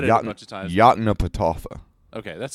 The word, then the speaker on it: Yoknapatawpha: How do you pronounce it, by the way? I've read it a bunch of times. Yoknapatawpha.